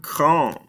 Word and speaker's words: grand: Next, we have grand. Again, don't pronounce these ending consonants.